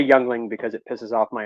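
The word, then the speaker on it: Yuengling: pack of of uh Yingling see I said it right this time people are you okay Yingling I always say youngling because it pisses off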